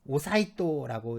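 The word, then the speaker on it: 統仁: 이름은 그 통인이라고 오사이토라고 읽어요.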